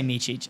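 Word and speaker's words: Mićić: one so it's really easy to say meich okay because it's like the C's just have the little CH on them they just don't have it in English like that so that's how you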